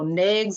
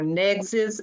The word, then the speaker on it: NAICS: So NAICS or NAICS, as some individuals will pronounce it.